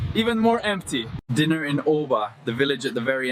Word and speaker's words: Å: The village of Å, pronounced Å, the last stop on the E10 highway.